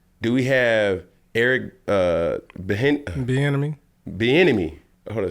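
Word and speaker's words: Bieniemy: head coach salary do we have Eric uh benmy benmy hold say his name Eric benmy are we able to still have Eric benemy did I say it right be enemy B enemy yeah if hold say his name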